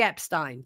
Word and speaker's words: Epstein: Um, Stein, not Stone. Who said Stone? I I didn't say Jeffrey Epste. No, Jeffrey Epstein. Jeffrey Epstein. They They changed it. Americans pronounce it different to the British, but I never said Stone.